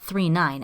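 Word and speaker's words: Galaxy Express 999: Likely as an homage to another famous work of Matsumoto's, Galaxy Express 39, pronounced 39 as opposed to 999 or 9.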